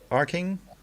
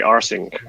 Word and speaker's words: Arcing: uh inigo about your arcing is that why what is it yeah with a hard c but a lot of people say rsync okay right i didn't